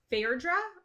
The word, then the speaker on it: Phaedra: first wedding she has a conversation with um Fair draw I'm gonna say that's how you pronounce her name yeah um in the audiobook they said Phaedra Phaedra okay thank you thank you and thank you